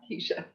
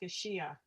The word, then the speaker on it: Kashia: And I think I pronounced it's Kashia, I think, not Keisha. It's Kashia.